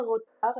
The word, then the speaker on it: retard: Un retard, la lettre muette, c'est D.